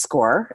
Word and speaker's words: SCOR: on my slide um score it's pronounced score and um and it